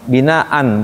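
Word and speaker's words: بناء: kecuali Hamzah Hamzah ee binaan umpamanya ada di surah Albaqarah itu ya binaan Enggak enggak Ini dia khusus Hamzah tapi kalau diberhentiin tetap dibacanya Mad iwad bina a tapi tulisannya memang enggak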